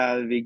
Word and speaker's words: avec: Il a ses affaires avec lui. Ooh, very, very close. Yeah, you got it right. Just the one detail. Actually pronounce the C on avec.